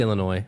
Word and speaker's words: Illinois: The S can be silent all it wants. I see it there. I was going to say something, but I didn't. It's Illinois.